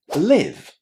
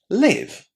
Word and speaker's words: live: When we use it as a verb, we say live with a nice short I. I live in Spain. Live. On the other hand, when you use this word as an adjective, meaning that something is happening at that very moment, you say live with the I sound inside.